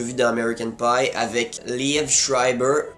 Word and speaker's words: Liev Schreiber: dans American Pie, avec Liev Schreiber. Je pense que c'est comme ça qu'on prononce son nom, mais c'est clairement pas Lièvre Schreiber, comme j'ai déjà vu dans certains commentaires.